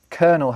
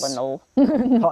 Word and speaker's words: colonel: When we discussed the military and military words, we talked about the fact that colonel has that silent L in it because... Colonel.